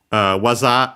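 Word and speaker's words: 技: I didn't expect that, but yeah, waza accent on the last syllable. So actually, in this case, can be heard waza, yeah, low, high, low.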